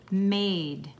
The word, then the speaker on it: made: She, again, S-H-E, she made, M-A-D, with a silent E.